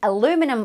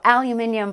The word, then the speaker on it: aluminium: also moving high was the aluminum or aluminium price however you want to pronounce it hitting a new 13-year